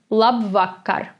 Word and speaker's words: labvakar: is good evening this is the word labvakar again the second syllable is under stress it's la vaca and